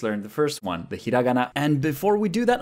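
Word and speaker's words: ひらがな: through that what is hiragana so a lot of American people would say hiragana please don't if you're learning Japanese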